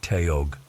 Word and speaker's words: Taug: "Name's Taug," he said, pronouncing it like Teog.